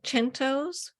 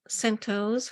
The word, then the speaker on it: centos: I've been writing lately are chentos or Centos however you want to pronounce it um it's an old